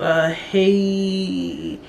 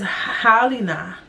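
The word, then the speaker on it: Halyna: He killed Haley. I didn't even notice I didn't know how to say her name. I just thought her name was Haley. It says Halina.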